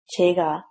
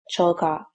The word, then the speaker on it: 제가: This is because Korean people find it easier to pronounce the pronoun plus subject marker as 제가 instead of 저가.